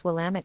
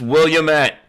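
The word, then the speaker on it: Willamette: you one from Oregon even if you can't pronounce Willam it to save your double butt it's William at oh check this out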